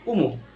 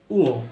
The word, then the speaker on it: ঞ: এটাকে আমরা সাধারণত বলে থাকি উমো, উমো বলি আমরা, কি বলি উমো, কিন্তু এটা উমো নয়। এটা আমরা সাধারণত সেই হাজার বছর আগে থেকেই উচ্চারণ করে আসছি উমো। এটা হবে উও, কি হবে উও, নট উমো, উও।